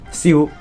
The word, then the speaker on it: Xiao: one is Sino Xiao so in Cantonese now see you see you so kind of like sewer but pronounce the ew a bit more like ew and then add an S sound at the beginning I guess so uh see you